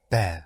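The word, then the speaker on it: ver: Saber s a b e r and to see is is bear. Bear. Yes. But v e r.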